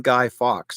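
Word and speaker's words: Fawkes: it is based on guy fox now if you know who guy Fox is is spelled f a wkes guy Fox is actually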